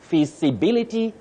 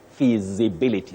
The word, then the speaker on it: feasibility: hold this part so in this word you have the sound Z which is a voiced sound you don't say s visibility no you say feasibility the way you said it for the second time all right will thank